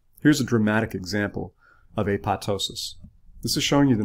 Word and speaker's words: apoptosis: typically undergo what's called a pat ptosis that ii P is silent a pat ptosis is